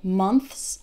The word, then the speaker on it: months: months months months months you'll notice that as I say it faster my tongue is not so prominent and in fact when speaking fast it might even sound like months like without the th months three months six months the teach is still there it's just very very small very very quick another word is clothes